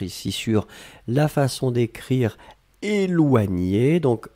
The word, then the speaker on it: éloigner: Je voulais juste qu'on se concentre ici sur la façon d'écrire éloigner. Donc, E, accent aigu, L-O-I-G-N-E-R. Nier, nier. Éloigner.